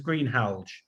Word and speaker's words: Greenhalgh: other quite well, but my pronunciation is Greenhalgh. Oh, it's a difficult name. Sorry. Don't worry, but I just want to, I think we will make progress on it. It's a Lancastrian name. It's always difficult to pronounce.